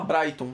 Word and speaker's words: Brayton: Tem gente que fala Brayton, tá, pessoal? Vocês podem ouvir as duas pronúncias aí para o nome, mas o mais comum é Brayton mesmo, tá?